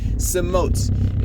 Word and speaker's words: Samoht: Samoht. It's spelled S-A-M-O-H-T. It's literally the name Thomas, but backwards.